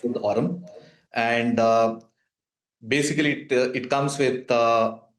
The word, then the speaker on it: Aurm: It's pronounced Aurm.